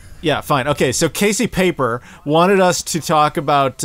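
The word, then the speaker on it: Pieper: I don't think it's pronounced Piper, so it must be either Piper or Paper. It's Piper. I don't think anybody's name is Piper. Are you sure it's not pronounced like that guy said paper in Waterworld?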